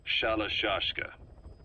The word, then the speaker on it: Shalashashka: The guerrillas were using the name amongst themselves, and by the time I got to hearing about it, pronunciation had wound up as Shalashashka.